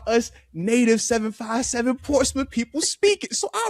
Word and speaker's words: Portsmouth: It's Portsouth. You pronounced it right. Most people say Portsmouth. I love the fact that you actually said it like how us native 757 Portsmith people speak it.